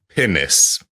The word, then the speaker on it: pinnace: or a pine Pinace sounds like I'm saying a not rude, but an anatomical word in a bit of a funny accent, but it's spelled P I N A C E.